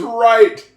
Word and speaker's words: right: Because one of the most frustrating crazy things about English, in this case, the gh in the word, right, is silent.